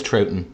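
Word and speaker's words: Troughton: can't I can't put I think that's trouton okay trout like the fish yeah okay I can't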